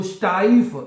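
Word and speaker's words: steif: ई एफ ऐसे अगर होता तो फिर ये स्टीफ हो जाना था अब ई आई है तो स्टाइप इसको ऐसे पढ़ा जाएगा ठीक है जब ई आई इकठा तो उसको आई की आवाज में प्रोनाउंस किया जाता है ठीक है तो बनेगा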